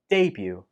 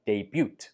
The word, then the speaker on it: debut: Debut. There is no t sound in this word, even though the spelling uses the t, do not pronounce the t. So do not say debut, say debut. Debut.